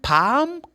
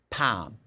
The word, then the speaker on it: palm: It's not palm. How do you pronounce this? It's not palm. No, it's palm. The L is not pronounced.